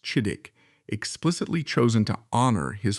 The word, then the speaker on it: Chidiock: His given name was exclusively Chidioch, pronounced Chidik, explicitly chosen to honor his father's powerful political patron.